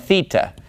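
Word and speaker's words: θήτα: remember the next three are gonna be Zita eita and theta now you can probably guess why I like to group these three but it's because they rhyme so if I can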